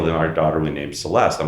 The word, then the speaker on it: Celeste: And she's like, okay, well, then our daughter we named Celeste. I'm like, no, that's a soft C. It needs to be a hard C, a cut.